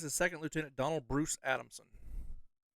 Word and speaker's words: Adamson: This is Second Lieutenant Donald Bruce Adamson. That one's easy to pronounce because it's just Adam and Son.